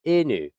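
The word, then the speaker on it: いぬ: a slight upwards, and in Japanese, it's the tonality, it's the inflection and the cadence of each of these sounds that can determine whether you're saying it correctly or you're saying something completely different from what you mean.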